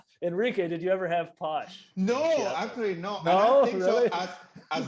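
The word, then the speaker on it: pox: of course alcohol um posh p-o-x pronounced posh sometimes spelled p-o-s-h is basically moonshine um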